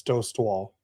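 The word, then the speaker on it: Dostál: It's Dost Wall.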